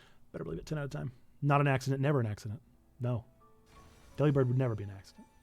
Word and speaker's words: Delibird: Because some people will say that Delibird is delivered, and I refuse.